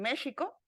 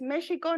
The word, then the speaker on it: México: mexicas porque habitaban en México la pronunciación real es México no México pero bueno para términos